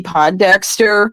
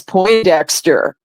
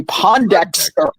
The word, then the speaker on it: Pondexter: me remember when campy Pondexter was um was on the New York Liberty and Bill lambir was the coach yeah well I had mispronounced the name to as po Dexter and and Bill lamb